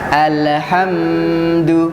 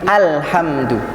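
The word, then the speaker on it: الحمد: Ini banyak terjadi kesalahan, tetapi kesalahan yang mungkin karena saking enaknya menghayati, jadi alhamdu, ada tambahan di situ. Harusnya murni alhamdu.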